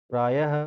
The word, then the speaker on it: प्रायः: जैसे अतः, प्रातः, प्रायः, पुनः। मैं बोल रहा हूँ तो लास्ट में क्या उच्चारण हो रहा है, ह का, ये क्या है, विसर्ग है।